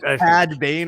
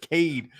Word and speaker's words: Cad Bane: All right, Cad Bane. Yes, we know. I didn't. Cad Bane. I said Cade.